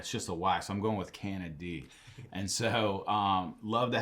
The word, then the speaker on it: Canady: and we were talking about the pronunciation of his name beforehand so some people say can a day but there's no uh a y it's just a y so i'm going with canada d and so um love to have you on